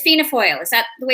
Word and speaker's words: Fianna Fáil: So you are it's Fianna Fáil. Is that the way it's pronounced? Yeah, Fianna Fáil is, that's right.